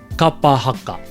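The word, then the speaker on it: kapa haka: So if you can focus more on the vowel sounds being consistent, I think you can really start to be able to pull that word together and say it properly. Kapahaka.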